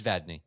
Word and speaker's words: Vadney: after the pre-show like how do you pronounce your name? He's like it's Vadney. Oh okay.